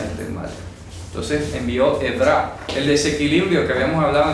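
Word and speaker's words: עברה: Ok, la palabra Edra. Por eso es importante ir desmenuzando en hebreo estas ideas. Y eso no es ira, Edra no es ira. Edra, repito, así se pronuncia.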